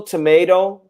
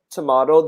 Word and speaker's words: tomato: Also tomato, tomato, they're both correct.